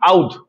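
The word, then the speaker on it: Oudh: অবধ Province. উচ্চারণে অবোধ আসে কিন্তু একচুয়ালি নাম হলো আউদ।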